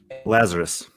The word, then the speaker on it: Lazar: hear you say it the emphasis is on the first syllable lazar lazar lazar i